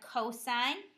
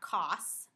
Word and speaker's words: cosine: hypotenuse next we have cosine abbreviated cos again you would read this as cosine not cos the cosine of an